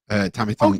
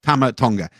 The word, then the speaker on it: Tama Tonga: Tammy Tonga. Oh yeah, he's phenomenal. He's phenomenal. I said his name wrong twice then, but it's a mouthful. Tama Tonga.